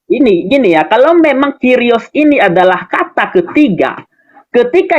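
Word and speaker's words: κύριος: Enggak, ini kurios ini. Cara bacanya Kyrios Pak, kan ada harokatnya itu Pak, gimana sih? Kalau kurios sampean salah baca itu.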